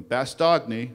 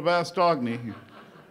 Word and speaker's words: Bastogne: a town called Bastone American guys didn't even know how to pronounce it you see the videos of bastogne they we on our way to Bast doy uh and they needed